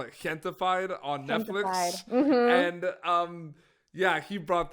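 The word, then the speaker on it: Gentefied: lot of people are referring to it as Gen 2 fide but technically it's gente fide so I'm getting excited spelt like pronouncing the J like an H so I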